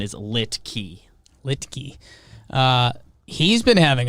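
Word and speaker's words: Luetge: hybrid i've been saying licky licky it's l-u-e but but somehow it's like an i sound like it doesn't look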